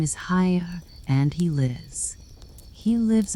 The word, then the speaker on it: Haigha: His name is Haya." He pronounced it so as to rhyme with mayor.